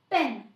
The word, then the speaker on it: pan: पेन, जो ए की short sound होती है, पेन, जैसे मैन। देखिए, जब हम मैन लिखते हैं MAN तो हम इसको प्रोनाउंस करते हैं मैन।